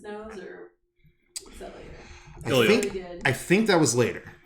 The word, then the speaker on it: Ilja: Ilya. I think that was later. Okay. Yeah. Ilya, not Ilja. Ilya. Ilya. Yeah. The J is silent. The J is not pronounced.